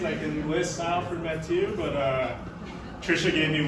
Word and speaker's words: Mathieu: Mathieu. My wife told me there's no H. Mathieu Lehanneur.